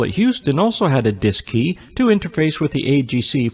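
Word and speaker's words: DSKY: display and keypad known as the dsk Y pronounced dis key on board both the CM and M LM Mission Control at Houston also had a disc key to interface with the AGC for remote control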